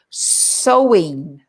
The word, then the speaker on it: sowing: and things like that sewing now so it's not sewing with a needle and thread is it not sewing no you're sure it's not s-e-w but it's the same pronunciation so sewing and sewing